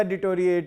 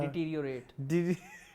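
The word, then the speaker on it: deteriorate: Aahista Aahista डिटोरिएट ही होगा drama. Bore क्या होना है, माती बजनी है। लव स्टिक कर लो, फिर लोग कहते हैं आप अंग्रेजी नहीं ठीक, डिटीरियोरेट।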